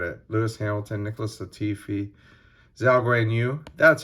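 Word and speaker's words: Zhou Guanyu: Lewis Hamilton, Nicholas Latifi, Zhao Guanyu. That's how you say his name. I just totally butchered that earlier, didn't I?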